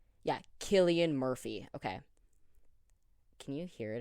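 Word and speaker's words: Cillian: slaughtered if I don't say it right uh pronunciation yeah Killian Murphy okay can you hear it if I do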